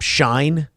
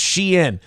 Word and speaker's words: Shein: Shine? No. Sheen? I don't think it's Sheen. Unless they're selling Tiger Blood, which is yeah, I don't know. So Luigi Mangione has his own company now? How do I pronounce Shein? All right, so it's pronounced Shein.